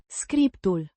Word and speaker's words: Scriptul: Pronounced Scriptul. with the accent on the first syllable.